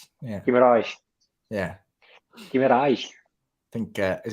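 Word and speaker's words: Guimarães: A Brazilian stepmom actually explained me how to properly say Bruno's name. Yeah, I know that. You pronounce it the same as I do. The Guimaraes. Yeah. Guimaraes.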